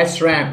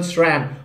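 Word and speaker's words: SRAM: और पांचवा mispronounce word है जो कि बहुत फेमस भी है, इज एस आर ए एम। मैंने गजब के लोगों को बोलते हुए सुना है एस रैम, बट it's actually single syllable स्रैम।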